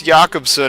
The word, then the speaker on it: Jakobsen: No, it's Jakobsen if you pronounce it with a Scandinavian accent.